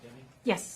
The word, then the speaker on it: Deming: Deming, is pronounced Deming?